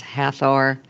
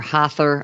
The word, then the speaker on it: Hathor: we're going to be covering tonight, which was Hathor, or Hathor, I've heard it pronounced different ways, Sekhmet, and Bastet.